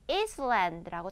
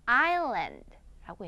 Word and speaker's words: island: 그렇다 보니까 많은 친구들이 Island라고 참 얘기를 많이 하는데 No, no, no. 왜? S 발음은 나지를 않아요. 그래서 어떻게 발음해야 돼? Island라고 얘기해주면 돼요.